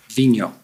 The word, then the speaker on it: Vigneault: We've all been debating about how to pronounce it properly. Vigno.